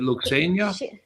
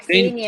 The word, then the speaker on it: Ksenia: Is it Luxenia? Ksenia, Oksana, Ksenia. Ksenia. Okay. Yes, Okay, I think Mother let me Ksenia.